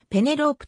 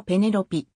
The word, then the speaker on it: Penelope: はイギリスの女優日本ではペネロープと発音されるが実際の発音はペネロピイングランドノースヨークシャーの